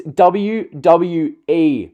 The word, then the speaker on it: WWE: in the dome WI it's WWE michael w w e it's not that we do you universe or that don't you don't universe or w w its WWE you can't even say